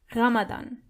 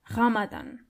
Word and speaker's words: Ramadan: Ramadan is Ramadan. Ramadan. So you have to roll your R.